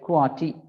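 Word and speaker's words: QWERTY: called quality keyboard right quality we used to pronounce as a word but in fact they are six letters but uh we pronounce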